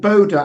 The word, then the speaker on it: Bodha: from grapp it all Cricket Club is Ben Boda how we doing Ben morning Ian how you